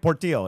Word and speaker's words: Portillo: that how you pronounce it? Let's see here. Yeah, Portillo, exactly.